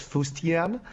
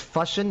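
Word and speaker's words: fustian: today is um fashion f-u-s-t-i-a-n it is not pronounced foustian it's pronounced fashion and it is a noun it is something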